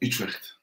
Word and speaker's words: Utrecht: Utrecht.